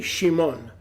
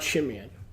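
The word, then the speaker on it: שמעון: It's actually Shimon, not Shimeon. y además quiero dar Baruch Haba, gracias a Yahuwah, exaltación por la rabina Rivka, porque la semana pasada ella me corrigió acerca de la pronunciación de Simeón o Simón. En el hebreo es Shimon.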